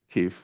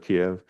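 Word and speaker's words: Kyiv: the US government officially started saying Kei instead of Kev um it's the same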